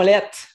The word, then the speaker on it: laitte: Fait que ses lunettes sont lettres. OK. Donc, c'est lettres avec un T, en fait. Ouais, avec un T à la fin.